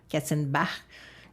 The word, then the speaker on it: Katzenbach: En fait, on ne prononce pas Bach, on doit prononcer comme... il doit être d'origine allemande ou quelque chose comme ça. Là. Katzenbach. Quelque chose qui ressemble à ça.